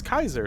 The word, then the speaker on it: Caesar: old names but the thing is you don't pronounce Julius Caesar as Julius Caesar right it's Julius Kaiser sometimes right Kaiser is actually the correct pronunciation